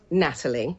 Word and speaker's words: Nathalie: record just to start off with it is pronounced Natalie okay it's a Silent Age um I I'm obviously Natalie cogs I'm an English model actress presenter you